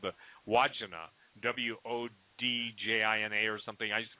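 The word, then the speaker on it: Wandjina: And it's the, I think Stan corrected my pronunciation, Deo did, but it's called the Wodjina, W-O-D-J-I-N-A or something. I used to call them the Wajinga, but it's a Wodjina.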